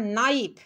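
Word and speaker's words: knife: इसके बाद नाइफ, नाइफ में देखो इसमें क्या साइलेंट दिख रहा है, इसमें नाइफ में के साइलेंट है, के साइलेंट है, इसीलिए कह रहा हूँ कि साइलेंट वाला वीडियो देख लीजिएगा।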